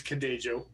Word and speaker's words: Cadejo: and i looked because i wanted to pronounce it ho because i wasn't sure and you know but it is cadajo with the j sound um so ew yeah